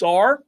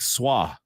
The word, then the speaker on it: Sarr: Since Alex Sarr is from France, do you pronounce the two R's on the end? It's probably like Soir. Soiree. Alex Soiree. Alex Soir. I think I heard somebody say Sarr last night, believe it or not.